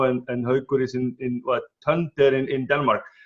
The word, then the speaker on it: Tønder: I'm sitting here in Oslo, and Haukur is in what, Tønder in Denmark. How do you pronounce that in Danish? Tønder, no? Tønder.